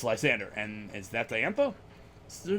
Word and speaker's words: Lysandre: When I first started playing Pokemon X and Y, I thought his name was Lysandre, like Andre the Giant, because look at him, he's huge, right? So Lysandre is how I was